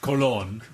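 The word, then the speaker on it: colón: disappeared uh anyway i i have learned that uh the costa rican colon is pronounced how mad i'm gonna say it's pronounced colon because uh there's the spanish version of christopher columbus all right there you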